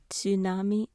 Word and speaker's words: tsunami: So this is probably the harder hardest character for me to pronounce is t as in tsunami.